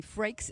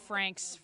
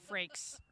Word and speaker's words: Frakes: My name is Frakes. It rhymes with breaks. Frakes, not Franks, Frakes.